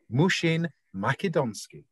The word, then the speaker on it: Mushin-Makedonskiy: professional human being please welcome known as mushin makidonsky thank you so much andy that was some great pronunciation of my surname i i really hear